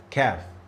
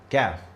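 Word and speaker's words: كاف: Let's go to the light sister of Qaf, which is Kaf. Kaf, you see? I showed you a little smile. This is how I pronounce it. Kaf. Kaf.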